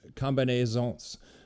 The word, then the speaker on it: combinaison: his use of the combinaisons, maybe the S is silent, combinaison.